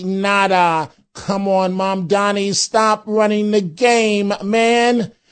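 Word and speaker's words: Mamdani: The name is Mondani.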